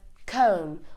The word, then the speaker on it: comb: Whenever an M comes before B, the B will be silent. For example, we have Tom, we have comb, we have climb.